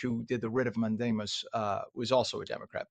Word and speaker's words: mandamus: Yeah, I was reading the judge ordered a rid of mandamus which is mandamus in Latin and that's how it's pronounced in Latin is is we we shall command or we command and a writ meaning a letter.